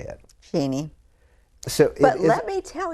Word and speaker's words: Cheney: know there's been some talk about how to pronounce Cheney, and it's just become Cheney in today's world. How do you say it? Cheney.